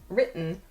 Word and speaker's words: written: of the word but native speakers don’t pronounce the “T” sound clearly like I just did. Instead, we say, “impor’nt,” “wri’n,” “moun’n.”